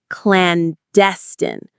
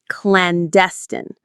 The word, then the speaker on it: clandestine: Clandestine. Clandestine. The stress is on the second syllable. Clandestine.